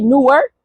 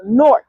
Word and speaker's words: Newark: New Yorkers, which I am, we say Newark, but you know, now that I'm I'm in Jersey and I got me a little Jersey Shorty, she said it's actually pronounced Newark.